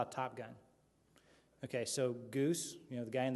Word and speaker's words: Geis: call sign Goose um my last name is G GE i s often mispronounced geese geese Goose G my whole life